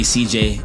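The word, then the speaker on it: Ceej: So please make sure you're following me on all platforms at Visionary CJ, and CJ is spelled C-E-E-J.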